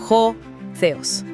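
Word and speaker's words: ὁ θεός: Y aquí pronunciamos claramente el sujeto de la frase, ho theos.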